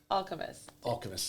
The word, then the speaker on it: alchemist: oh like all kemp like all chemists alchemist is how it's pronounced